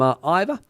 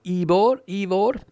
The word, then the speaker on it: Ivor: Oh, sorry, one more here from Ivor, or Evor. Sorry, I got that wrong. I remember Evor saying that that's how he prefers the name to be pronounced.